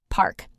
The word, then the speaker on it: park: Park, simple word, but watch pronunciation different from pork.